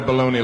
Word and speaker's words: bologna: Uh, how do you want to pronounce this word? Baloney. I don't know if you saw there's a G in the word. I don't see no G.